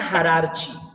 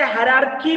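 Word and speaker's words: hierarchy: है, याद रखो, टैक्सोनॉमिक हायरार्ची। इसे हायरार्की भी कहा जाता, दोनों भी प्रोनाउंसिएशन सही है। इसको हायरार्ची बोलो या हायरार्की बोलो, दोनों भी प्रोनाउंसिएशन सही है, ठीक है?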